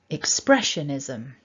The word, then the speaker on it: expressionism: got here is that we've got one main stress and it's on the second syllable.